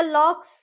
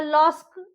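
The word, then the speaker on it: lock: देखिए जैसे लॉक, एल ओ सी के, इसको हम लॉस या लॉक्स या लॉस्क ऐसे नहीं बोलेंगे, यहाँ पे सी साइलेंट हो जाएगा तो इसको हम बोलेंगे लॉक।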